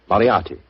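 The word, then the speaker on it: Moriarty: I'm afraid I'll have to begin calling it the way it looks. M O R I A R T Y. Moriati.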